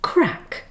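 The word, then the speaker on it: craic: with this lesson now here's an interesting word that sounds like crack but it's spelt differently it's an irish english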